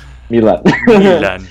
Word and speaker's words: Milan: emphasis on the Milan Milan yeah kind of like that but the way the way that I remember it is that it's Milan it's like Dylan but with an M but with an exactly